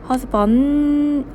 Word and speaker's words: husband: D는 묵음같이 소리를 잘 안 내도 되는데 그냥 husband N에서 그냥 혀를 떼면서 조금 소리 내면 돼요.